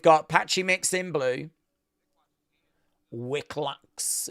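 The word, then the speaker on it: Wikłacz: Wicklax is what they're saying. Vic Vic Loch, we asked Mr. uh Vic Loch how you pronounce his name, said John Anick.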